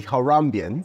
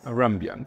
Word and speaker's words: Harambeans: don't want to go go wrong with the pronunciation AR harambe yes it's the it's it's the haramban haramban which derives from Haram Bay which is Swahili